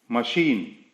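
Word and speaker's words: machine: मशीन, यहां पर CH की आवाज श आ रही है।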